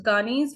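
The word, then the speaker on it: Gagné: So we chose Ghani's for today's lesson.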